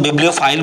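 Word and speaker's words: bibliophile: बिब लियो file. तीन सलेबल यहां पे है बिबलियोफाइल।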